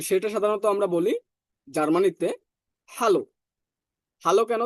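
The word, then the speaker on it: Hallo: দেখেন, এইচটাকে আমরা হা পড়েছিলাম, এটাকে আমরা পড়ছিলাম আ, আর এলটা উচ্চারণ এল এর মতোই হবে, অর্থাৎ আমরা উচ্চারণ এল পড়ছিলাম, বাট ইংরেজি এল এর মতোই উচ্চারণ হবে ওয়ার্ডের ভিতর। হ্যালো, হ্যালো, হা আ এল এল ও, হ্যালো।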